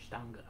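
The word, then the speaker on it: Stange: How do you pronounce that, Luke? Stanga.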